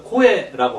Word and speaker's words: 声: 여기서 코에라고 하는 말은 사람의 목소리죠. 이제 보통 소리 중에서 있잖아요. 소리 음자를 이렇게 써놓고 이것을 오또라고 읽으면 이제 보통 일반적인 소리입니다. 근데 목소리는 여기 나온 그 목소리 성자 써서 코에 이렇게 됐습니다.